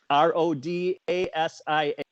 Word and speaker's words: Rhodesia: People tend to spell it like the country, but it's Rodasia.